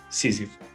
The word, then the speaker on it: Sísifo: Como é que se pronuncia? Sísifo.